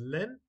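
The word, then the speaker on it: ln: problems this is a lan problem so I will just do this learn in this since it's National logarithm or sometimes they pronounce it as Lin it's up to you now over here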